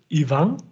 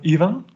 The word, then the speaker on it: Ivan: going that way your name is pronounced ivan instead of ivan i don't know if